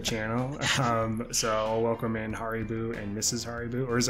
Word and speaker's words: Haribo: So I'll welcome in Haribo and Mrs. Haribo, or is it Haribo? I never know the right pronunciation. It's Haribo.